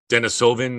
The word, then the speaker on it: Denisovan: a big one in russia i think called denisovan or i'm not sure if i'm pronouncing it right that's exactly right yeah that's